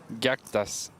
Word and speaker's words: Gaktas: Gaktas. Gaktas. Ga as in gammon. Ga. And tas as in jack.